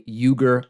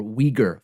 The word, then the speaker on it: Uyghur: We will also talk about the House of Representatives passing a Uyghur forced labor bill, or Uyghur forced labor bill, depending on your preferred pronunciation.